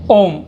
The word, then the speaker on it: ओम: जैसे ओम, ऐसे लिखते हैं ओम, तो ये ओम जो होता है इसको ओ, आप स्वर को खींच रहे हैं तो ये, या किसी